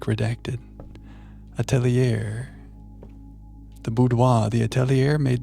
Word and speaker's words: atelier: I pronounce that Attelier, but I'm always working on how I say things and I might not have it right. You're great, Alexa. Attelier.